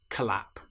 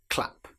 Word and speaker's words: clap: If we're using the word clap, we certainly don't want to say collap. It's clap.